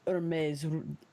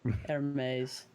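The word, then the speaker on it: Hermès: Oh, it's pronounced Hermes. Okay, I don't know, whatever. Hermes.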